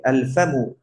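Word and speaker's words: الفم: ফা দিয়ে যদি কোনো শব্দ শুরু হয় তখনও সেটাতে আল উচ্চারণ হবে। আল ফামু, আল ফাম মানে হচ্ছে কি?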